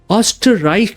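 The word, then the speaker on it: Österreich: एंड जो आपने इसका नाम लिखा है, because I understand Germany but Deutsche language, इसका जो स्पेलिंग है एंशुल्स नहीं है, ऑस्टराइक है.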